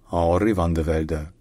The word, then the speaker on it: Henry van de Velde: In Dutch or Flemish, which is his native language, his name is pronounced Henri van de Velde.